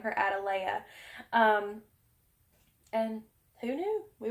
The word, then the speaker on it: Atalaya: thought it was called a delay is castle but it's actually Spanish supposed to be pronounced itíll ayah and oh